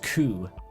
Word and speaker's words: corru: This is why people say it's pronounced coup. Absutely. I guess I can see it. But I don't know. Quo just sounds so much more interesting.